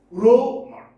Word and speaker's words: rumor: Let's have a look at rumor. Stress is on the first syllable. Rumor.